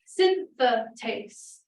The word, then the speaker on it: synthetase: this out is glutamine synthetase again take note of the extra syllable there it's not a good